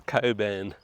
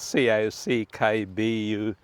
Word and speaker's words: Cockburn: If you, we won't say that, it's Coburn, but it's spelled C-O-C-K-B-U-R-N. So any out-of-towner will call it Cockburn, but seeing that this is a family channel, we shall call it Coburn.